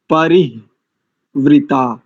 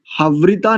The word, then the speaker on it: परिवृता: सम्राजो ये सुवृद्धो यज्ञ my your परि परिवृता। अर्ध हकार को परि के साथ जोड़ेंगे तो परिवृता। दधिरे हवृता नहीं करेंगे। अधिकांश लोग इसका हवृता ऐसा अशुद्ध उच्चारण करते हैं।